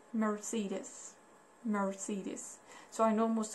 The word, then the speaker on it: Mercedes: do you pronounce it in English so it's pronounced like Mercedes Mercedes so I know most of you can